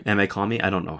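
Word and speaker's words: Ame-Comi: Ame Kami? I don't know how to pronounce that. Amecomi.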